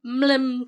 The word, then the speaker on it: MLM: I've seen it, but I've never heard someone say it. Mlem. That's how I say it in my head.